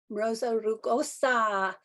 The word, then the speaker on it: Rosa rugosa: Rosa rugosa.